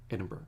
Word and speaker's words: Edinburgh: You don't say borough, you just slur it all together. It's bruh, which is a very common thing now in America. It's Edinburgh, and she got that one quick.